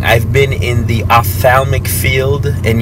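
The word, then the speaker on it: ophthalmic: I've been in the Opthalmic field and yes that's how you say it offal o pH is o f so I've been in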